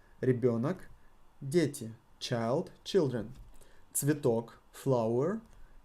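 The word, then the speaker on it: ребёнок: It got yo, and if we got yo inside the word, the emphasis falls always on yo. Ребенок, дети.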